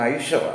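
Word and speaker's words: Eicher: ഒരു മോട്ടോർ ഇറക്കുന്ന ഇതുണ്ട് അതിനെ പലരും എയ്ച്ചർ എന്നാണ് പറയുന്നത് അത് എയ്ച്ചർ അല്ല ഐഷർ ആണ് ഐഷർ എന്നങ്ങ് നീട്ടി അങ്ങനെ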